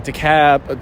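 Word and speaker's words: DeKalb: the cab they don't they don't pronounce the L down there so I'm going to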